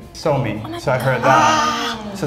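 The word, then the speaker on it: Suomi: different way in Finland you don't you don't say Finland you say so me so I heard that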